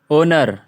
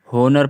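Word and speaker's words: honour: है ओ से पहले अगर आ जाए तो सेलेट होता है बहु सिंपल है यार जैसे आवर ओनर ओनर ओनर ओनर ओनर पढ़ रहे ना कि हम इसे होनर पढ़ रहे हैं ओनर ओनर पढ़ रहे हैं हम इसको ओनर है ना ओनर पढ़ रहे है होनर नहीं पढ़ रहे इसे हम ओनर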